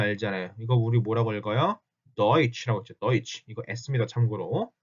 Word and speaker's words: Deutsch: Deutsch. 좀 더 알아보기 쉽게 써드릴게요. 자, Deutsch를 쓸 때도 D, E, U, T, S, C, 이렇게 쓰죠. 그래서 Deutsch. 이것도 E, U죠. 오이라고 읽었죠.